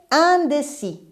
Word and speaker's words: indécis: les potes et moussa main le contraire ces indécis il est un des six aces ne se prononcent pas elle est indécise avec à la